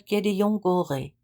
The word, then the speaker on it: Gédéon Goré: But finally, "Je m'appelle Gédéon Goré." He pronounced it in his most nasal, perfect Paris French. It didn't even sound remotely like Gideon Gorey.